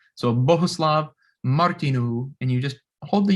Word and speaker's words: Bohuslav: mr martinu note that little circle on the u is not an umlaut this is a czech name and it just means to hold that u a little longer every word in check